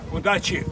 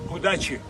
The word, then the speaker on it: Удачи: Удачи. Удачи.